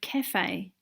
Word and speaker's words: cafe: the A sound, and in the word cafe, the A sound is being spelled with just a letter E.